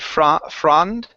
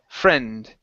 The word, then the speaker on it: friend: Now here we want a short E. When you would pronounce it, you said frond, more of an ah sound into it. So it's friend.